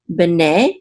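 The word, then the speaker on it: בני: Okay, and the accent is on the second syllable because this is a trope mark right here.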